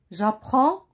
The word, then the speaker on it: j'apprends: Alors là, chers élèves, DS, il y a deux lettres. J'apprends avec DS. Ce sont deux lettres muettes qui ne se prononcent pas.